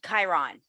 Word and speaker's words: Chiron: want to make sure i present it uh pronounce it properly chiron or chiron you got it chiron chiron okay the chiron effect healing our core